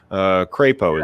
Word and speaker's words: Crapo: this same with Mike Crapo in the Senate Crapo is how it's actually pronounced he stymied the the